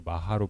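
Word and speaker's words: महा: 평전의 제목에서 마하는 범으로도 그대로 마하로 발음이 됩니다. 반야는 플라즈냐 바람일단은 파라미타 그러니까 그 범의 발음을 가장 유사한 한자를 찾아 가지고 비슷하게 적은 거죠.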